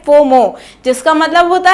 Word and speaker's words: FOMO: ऐसे ही फोमो को हम लोग FOMO लिखते हैं, लेकिन हम लोग उसे प्रोनाउंस करते हैं फोमो, जिसका मतलब होता है फेयर ऑफ मिसिंग आउट।